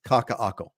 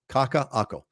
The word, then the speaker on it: Kaka'ako: I hope you're watching because it's Kaka'ako. Just right there below. Kaka, Okina, Ako. Kaka'ako. Kaka'ako is definitely the up and coming condo area on Oahu, no doubt about it.